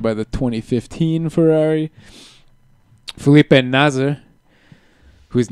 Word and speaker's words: Nasr: You could tell most of the commentators, they've gotten really careful about pronouncing the R. Yeah. Really pronouncing it as Nasr. Nasr, not Nasa.